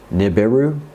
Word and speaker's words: Nibiru: You don't have to roll your R. I speak Spanish. I'm half Spanish. I'm half Basque, actually. So I can roll my R's. And for Americans or North Americans, Nibiru is a good translation as well.